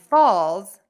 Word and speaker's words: falls: and false are different false f-a-l-s-e ends in an s and falls f-a-l-l-s ends in a z so false and Falls